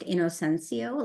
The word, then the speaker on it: Inocencio: Just to clarify too, my last name is pronounced Inocencio, like the word I am innocent.